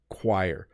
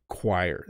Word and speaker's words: choir: them for people um the reason this is hard to pronounce is because it starts with ch and CH doesn't often make a qu sound chir choir and so you end up wanting to use either CH or C but it's not either of those sounds it's chire qu choir so this should be spelled with a Q probably anyways a choir is